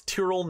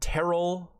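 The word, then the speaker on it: Tyrrell: tier latin was 15th it's tyral not terrell some of these guys in the industry can't say his name correctly um and then a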